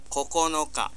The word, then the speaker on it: 九日: 至于九号好像椰子那样 coconuts 那样，它会读成九日、九日、九日。